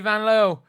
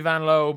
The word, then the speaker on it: Vanloo: Julie Vanloo or Julie Vanloo. I think her name is pronounced Julie Vanlow, but um she doesn't mind people chanting Julie Vanloo because uh you know it's a good chant.